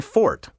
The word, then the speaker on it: forte: proper pronunciation is my fort that's right i mean fort not forte or worse forte the musical term spelled f-o-r-t-e comes from italian and is pronounced in two syllables like the italian forte forte is a musical